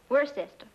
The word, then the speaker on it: Worcester: well Freddie causes something else too dark but it's spelled w-o-i-c-e-s-t-e-r we're a sister oh it's a Worcester his mother be fit